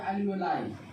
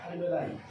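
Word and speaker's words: alveoli: और ब्रोंकियोल्स के डिवीजन में क्या बताए थे, एल्वियोली या एल्वियोलाई। इसको प्रोनाउंस कर सकते हैं एल्वियोली या एल्वियोलाई। ठीक है, मैंने बताया था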